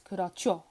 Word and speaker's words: 그렇죠: Yeah, if a regular consonant comes after a hiat, it becomes pronounced as a strong consonant. So yeah, this would be pronounced as 그렇죠.